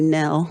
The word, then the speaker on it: Nell: I know it looks like Noel. I'm married in. It's Nell. I used to carry a visual that said the K is silent and the O is silent, and one of the L's is silent.